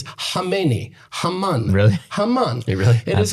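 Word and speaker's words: Khamenei: You know how you actually pronounce Kamani in Persian? It's not Kmeni, it's Hami.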